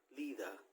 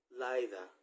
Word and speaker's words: Litha: about the summer solstice otherwise known as Lisa in some countries they pronounce it as leader or Liza or leta all right so first